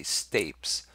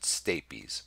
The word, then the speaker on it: stapes: Now, some people say stapes, I pronounce it stapes.